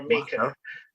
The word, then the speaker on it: Makar: He's actually a current, how do you pronounce it? Maker or maker?